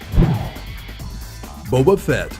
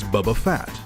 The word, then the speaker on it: Boba Fett: skip Donahue in stir-crazy boba fett was originally supposed to be Vader's apprentice but his role was diminished when Lucas realized that people might mispronounce his name as Bubba fat they still did Yoda